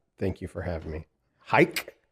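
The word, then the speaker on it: Haig: know the difference though you could discern which part of I am from based on how I pronounce my name it's a lose lose because if you're are Western Armenian and your name is H with the g h AIG G everyone reads your name as Hay all right and then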